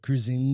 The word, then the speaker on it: Kruizenga: You'll notice I don't have Beth with me today, but I've got Kruizenga.